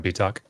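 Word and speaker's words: Bietak: And Josh, you'll have to help me on pronunciation here. Betox? Manfred Betox.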